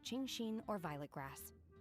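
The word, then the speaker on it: Qingxin: something that tastes like chingshin or violet grass. Oh, she actually says chingshing. Like I'm surprised because when they say the X sometimes they pronounce it like the S.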